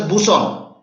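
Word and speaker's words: BSON: a busan what is a busan it is pronounced as busan what is a busan anybody tell me since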